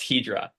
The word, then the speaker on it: Hedra: up hedra hedra how do we say hedra Hydra it's pronounced hedra hedra okay it's it's so it comes from